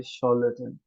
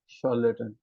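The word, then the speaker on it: charlatan: Basically इसकी pronunciation ना तो चार है ना लैटन है, ये है शॉर्लेटन, शॉर्लेटन, शॉर्लेटन।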